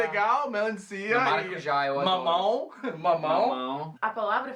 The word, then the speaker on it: maracujá: Agora, eu diria que minha palavra favorita é maracujá. Maracujá. E também abacaxi. Eu gosto de falar abacaxi. É muito bom. Muito Essas legal. palavras que têm a ênfase na última sílaba, tipo maracujá, abacaxi, né?